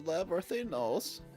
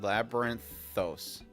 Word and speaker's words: Labyrinthos: Why, the authorities in charge of the Labyrinthinos. That's totally not that pronounced. Labyrinthos. Labyrinthos.